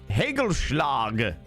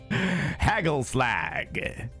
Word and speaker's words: Hagelslag: Your pronunciation is so wrong and yet so good. Hagelschlag. Or is it Hagelslag? Hagelslag.